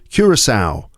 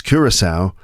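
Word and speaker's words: Curaçao: But the next team is Curisowl. That's Curisowl. Yeah, it's their first World Cup and it's pronounced Curisowl.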